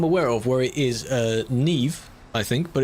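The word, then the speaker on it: Niamh: There is another name that I'm aware of where it is Neve, I think, but it's like N-I-A-M-H. But it's pronounced like Neve.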